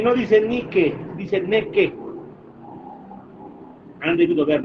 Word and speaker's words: Nike: Por ejemplo, yo quiero comprar, por decirles, ya, 100 zapatillas deportivas de la marca Nike, ¿no? Como se leería en español, pero se pronuncia Nike, ¿no? Ustedes saben bien.